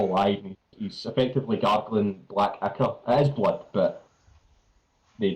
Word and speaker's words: ichor: He's effectively gargling black ichor. It is blood, but they don't have normal blood. Actually, And it's pronounced Icar. ichor, I say ichor, fuck off.